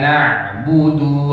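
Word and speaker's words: نَعْبُدُ: Iyyaka na'budu wa iyyaka nasta'in. 1, 2, 3. Iyyaka na'budu wa iyyaka nasta'in. Na'budu ain tidak boleh berhenti. Dia itu punya aliran walaupun sedikit. Coba diikuti.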